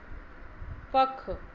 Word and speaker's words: पंख: पख, पख का अनुस्वार लगाएंगे तो हो जाएगा पंख, यहाँ भी ना की तरह उच्चारण निकल रहा है।